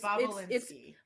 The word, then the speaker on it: Bobulinski: Andrew Bubbly Bobulinski. It is very it's Bobolinsky.